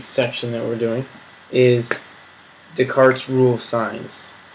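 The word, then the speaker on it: Descartes: The last thing in this gigantic section that we're doing is Deart's rule of signs. spelled like discarte but you say it like the cart like a Jamaican talking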